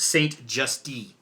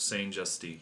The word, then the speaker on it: Saint-Just: So if it's spelled, it's spelled as Hubert Saint-Justy. Just E. Hubert Saint-Justy. Yep.